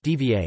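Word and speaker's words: два: ody ee n DN 2 equals devon pronounced d VA d VA 3 equals try pronounced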